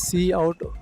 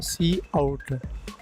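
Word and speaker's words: cout: Output or print text see out is pronounced as see out or C out it is used together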